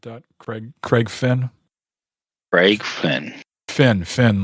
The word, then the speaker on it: Finn: Finn, like a dolphin fin.